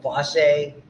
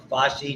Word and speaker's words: fossae: forming what are called fossae or fossae, depending on how you pronounce it, or the cranial cavity.